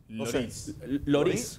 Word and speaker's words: Lloris: ¿Cómo se pronuncia? Lloris.